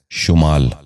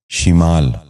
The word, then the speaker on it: شمال: شگون۔ نواں لفظ ہے شمال۔ یہ غلط تلفظ ہے، درست تلفظ ہے شمال۔ دوبارہ سنیے، شمال۔ بچوں آپ بھی غور سے سنیے، شمال۔ 10واں اور آخری